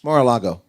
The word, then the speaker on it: Mar-a-Lago: Mar Algar, no, that's wrong. Trump's house. Mar-a-Lago. That's nice. That's very nicely pronounced.